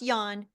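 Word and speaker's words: Jan: in my book is Yan V white it's pronounced Yan but it's spelled with a j j a n middle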